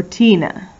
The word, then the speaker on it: Tina: because it's a named tina is spelled with an i it almost sounds like it would be an e because it sounded like eena but it's an i tina knew the way home